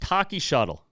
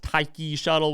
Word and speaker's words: Taiki Shuttle: Next, Taki Shuttle. I know it's probably pronounced Taiki Shuttle, whatever.